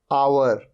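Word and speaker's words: hour: आप देख रहे हैं तीनों वर्ड्स में ओ से पहले आ रहा है एच, ये है आवर। यहां पर एच साइलेंट होता है, आवर, आवर मतलब घंटा।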